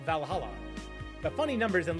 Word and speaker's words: VA-11 Hall-A: are hey Bala the name sounds silly and a bit hard to pronounce good thing it's actually called valala but funny numbers and